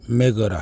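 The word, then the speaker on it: MAGA: 메거라 하죠. 뭐 보통 마가라 하는데 미국식 발음은 메거가 됩니다. 저도 마찬가지로 우리 대한민국을 위대하게 만들겠습니다.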